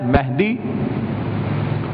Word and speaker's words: مہدی: امام کا لقب ہے مہدی، اور وہ چیز جو رنگ و خوشبو کے لیے استعمال کی جاتی ہے وہ ہے مہندی. میم ہے نون، مہندی.